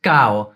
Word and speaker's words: caro: For example, the word caro is pronounced cao.